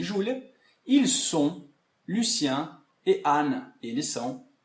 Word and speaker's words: ils sont: E, para terminar, então, essa parte de pronúncia, ils sont. Eles são. Elles sont. Elas são. E aí eu não pronuncio, então, esse T, ok?